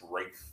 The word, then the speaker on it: Ralph: Now apparently it's Rafe Fiennes, but anyway.